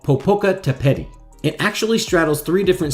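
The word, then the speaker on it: Popocatépetl: this volcano bear with me here on the pronunciation this volcano is called popoca tepeti it actually straddles three different states in central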